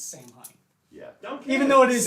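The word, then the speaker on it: Saim-Hann: to be pedantic because there is an official pronunciation guy there is in the third edition Craft World codex it does say it's Sam Hine yeah even though it is Sam not Sam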